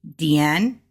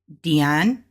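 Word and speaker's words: 电: So the way that we will pronounce TV or television will be Dian, Dian, because we're going up.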